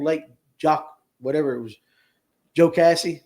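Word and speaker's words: Jocassee: Joe Cassie. Did I say it right this time? I know I said Jockassie last night.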